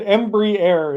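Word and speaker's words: Embraer: going to do Tepanyaki JC said Embry a is how it's pronounced there you go embri a embri 175 that's what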